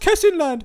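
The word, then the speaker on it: Kessingland: It's pronounced Kesinland.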